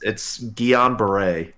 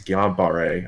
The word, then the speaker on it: Guillain-Barré: Tyler is currently hospitalized with I'm not going to mispronounce this. Hopefully, Guillain-Barré syndrome. It's Guillain-Barré. Guillain-Barré syndrome. I've watched a lot of ER and House. Growing up, and that's been in a couple episodes. Guillain-Barré, I believe is how it's pronounced.